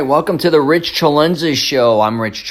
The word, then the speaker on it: Celenza: All right, welcome to the Rich CELENZA Show. I'm Rich CELENZA, and the show's called WTF Are You Talking About?